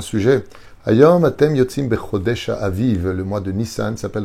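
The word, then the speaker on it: אביב: d'un peuple qui sort pendant le mois de Aviv. Aviv, ça s'écrit Aleph, Bet, Yud, Bet.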